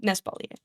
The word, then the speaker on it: Nespalier: And then I added the N in front of Espalier because I thought it would be funny if my name was penis.